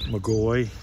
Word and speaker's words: McGaughy: m-u-r-p-h-y okay and your name what mcgoy m.c g-a-u-g-h-y okay could you spell that last name again m-c-g-a-u-g-h-y and it's capital